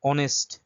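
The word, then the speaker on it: honest: এতো সেই common অনেস্ট। অনেস্ট আগে কি বসে? এান অনেস্টম্যান। কারণ কি? এখানে কারণটা হচ্ছে অনেস্টের যে উচ্চারণ সেটা হচ্ছে অ এর মত।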